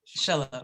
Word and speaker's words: Chelove: Did I have that right? Chelove? Miss Chelove, yeah, like okay. Chelove. Okay, yeah. Chelove, thank you.